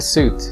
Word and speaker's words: suit: men often wear a suit to work a suite on the other hand is used to describe a set of rooms for example a hotel suite suit is pronounced with the long oo whereas sweet primes with